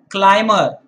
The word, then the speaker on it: climber: Similarly, it's climber. It's not climber. Climber.